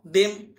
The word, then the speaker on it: them: এখানে THEM কি হলো, টিএইচ এ দ, ইতে একার, এম এম দেম।